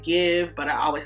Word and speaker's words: GXVE: I also believe you pronounce it give, but I always say GXVE, so there we go.